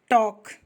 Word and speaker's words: talk: टॉक, TALK, L कहाँ गया?